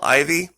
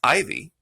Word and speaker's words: AJVIE: And this other channel, Ivy, it's spelled AJVIE. I'll say that again. It's pronounced Ivy, but spelled AJVIE.